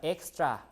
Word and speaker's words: extra: this uh gz right but extra like KS extra effort effort like this